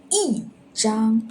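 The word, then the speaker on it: 一张: We're going to read 一张. Why? Because other tones before, which is the first tone, we need to read fourth tone.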